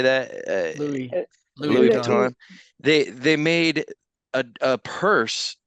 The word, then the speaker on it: Louis Vuitton: Louis Vuitton.